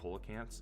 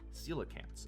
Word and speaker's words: coelacanth: of mope around the the kants yeah it turns out you're not even pronounced that it's celant is how they're pronounced and I just learned